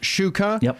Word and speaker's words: Shuker: him the question and he confirmed that generally it's pronounced Shuka however it gets pronounced both ways but but the other way is wrong uh fundamentally yes so